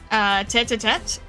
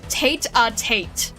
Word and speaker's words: tête-à-tête: I was trying to look up pronunciation of tête-à-tête and the pronunciation Google Translate Translate gave me was "tate a tate". And I'm like, that that's not right. That's not right at all.